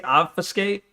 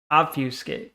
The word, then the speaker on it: obfuscate: I don't know because she doesn't know how to say obfiscate. Obfuscate.